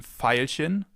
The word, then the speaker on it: Veilchen: It can either be pronounced like the F, as in Veilchen, Veilchen, or like a V, as in Violine, Violine, violin.